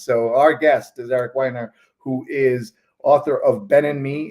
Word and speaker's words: Weiner: It is Weiner, as in one who wines a lot or one who enjoys drinking wine.